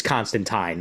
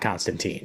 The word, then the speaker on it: Constantine: this type of story, he's Constantine, not Constantine. Like, plain and simple. I'm sure it's right. It just doesn't sound right. I know. It's the way Alan Moore meant for the name to be pronounced.